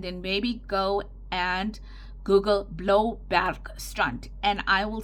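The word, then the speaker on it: Bloubergstrand: that is and then maybe go and Google Blow Bar strunt and I will spell that for you b l o u b e r g s t r a n d now what does blow back strunt translate in into English blueberg Beach blow for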